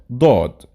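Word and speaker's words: ضاد: And let's quickly know how to pronounce each of them. Seen, sheen, and the next pair, sod, dod.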